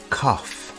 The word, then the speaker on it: cough: Our next question is, do you have a cough? The word cough has an unusual pronunciation. Instead of a G sound, we have an F sound here.